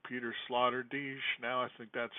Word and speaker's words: Peter Sloterdijk: for a thinking system, like a bubble, like Peter Sloterdijk. Now I think that's how you pronounce it.